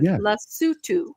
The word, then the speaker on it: Lesotho: Do you guys remember when I reported several times on what happened and I finally learned to pronounce it, Lesotho.